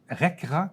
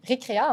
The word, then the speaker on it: Récréa: qu'est-ce que c'est RRA Récréa en fait Récréa excuse je voyais le C je dit je voulais être sûr de bien le prononcer donc Récréa voilà oui